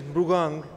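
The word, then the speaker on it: Mrugank: Yeah, the actual name is Mrugang, but not easy to pronounce, so Monty Desai is easier.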